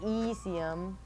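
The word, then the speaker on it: aecium: It's pronounced eium and it's the fruing body of rust fungi which there's chainlike or stocked spores. Ae c ium m. Eium.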